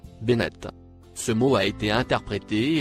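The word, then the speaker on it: بنات: Le mot en surbrillance gris que vous voyez, se prononce, Bennett.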